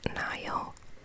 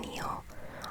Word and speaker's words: Nile: the news started to flawed i know it's pronounced nile but i always called it neil i think someone picked up on that on